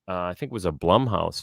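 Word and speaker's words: Blumhouse: I think was a Blum House film or is pronounced bloomhouse um that you know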